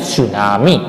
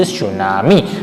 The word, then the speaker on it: tsunami: is known as okay t is silent is their student so remember this thing t silent tsunami okay you will not say you will say sunami but this island is